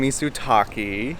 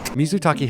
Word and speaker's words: mizutaki: oh we're having Mis we're having misu Taki which means simmering water in Japanese it's a hot pot and